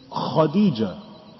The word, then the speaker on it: Khadija: Now, instead of Kha, he says Ka. And that's why people say Khadija. Have everybody heard of the name Khadija? Huh? No. No. Everybody heard of the word Khadija, and there's no such word. It's Khadija. Khadija.